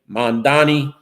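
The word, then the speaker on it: Mamdani: And uh Assemblyman Mandami said uh that Cuomo should learn to pronounce his name. Mandani uh Stringer said that he has the experience, his vision when you combine it in third lane, it's what you have.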